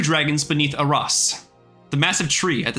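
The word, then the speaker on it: Aeras: Using its power, it sealed the 2 dragons beneath Aras, the massive tree at the center of Tsunami. Aras is spelled A-E-R-A-S. Air ass.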